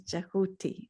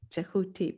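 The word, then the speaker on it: Djehuty: So th um the Egyptian name is jahooti. Jahuti.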